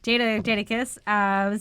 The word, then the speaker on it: Jadakiss: Jada. Like Jada Pinkett. There we go. Jadakiss.